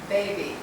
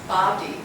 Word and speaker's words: body: And I've noticed when body has come up, it's pronounced baby, but it's body.